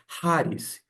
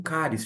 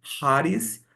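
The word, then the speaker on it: χάρις: haris no grego a a pronúncia no grego coin é haris você pode ter aprendido como caris fique à vontade mas acredite em mim quando a gente coloca lá o o som de ch alemão a gente pronuncia haris e ou charismata no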